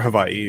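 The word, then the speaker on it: Hawaiʻi: for people here in Hawaii um or Havi if you want to more correctly pronounce it but it's it can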